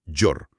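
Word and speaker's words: gör: El verbo llora, que se pronuncia llora y se unifica hacer, se convierte en yor, pronunciado yor.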